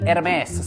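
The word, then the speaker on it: Hermès: Potom ju vlož do fejkovej kabelky RMS svojej ženy a nikto nebude tušiť, že si len alkoholik po výplate.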